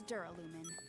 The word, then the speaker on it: Duralumin: Gelalumin? It's Duralumin. Duralumin. Oh god, they're talking about the dumb word that I couldn't pronounce in the first game.